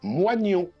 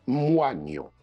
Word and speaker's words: moignon: on a le mot moignon, auquel on connaît trois prononciations. La tradition, restée majoritaire, tend vers moignon. Le 19e siècle recommandait quant à lui, par exemple, Becherel, la prononciation moignon.